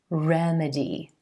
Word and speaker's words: remedy: This word, remedy, remedy, stressing the first syllable and the E as in red vowel sound.